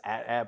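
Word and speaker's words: AT-AT: well there's at and then everybody says at at but I have heard atat I I do makes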